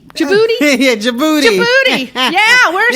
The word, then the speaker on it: Djibouti: how to pronounce this, but I think it's Djibouti, Africa. Did I do that right, Chris? That was close. All right. Would you give us that name? Djibouti? Yeah, Djibouti. Yeah, where's Djibouti?